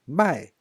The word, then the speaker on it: 卖: And if you change the tone into the fourth tone, 卖, that means to sell.